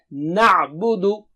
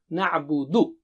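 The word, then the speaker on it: نعبد: And don't say mo bo wofo. It should be mu bu wufu. Okay, so don't say na'budu. Na'budu.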